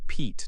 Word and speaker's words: Pete: When we add a magic E, it becomes Pete. The E in Pete now has a long E sound.